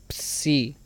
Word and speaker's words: psi: Tenemos la Psi. Esta equivaldría a una pronunciación como en Pepsi. Psi.